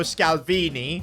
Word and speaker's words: Scalvini: we need and Georgio scalvini his name rhymes with Maldini and he shares his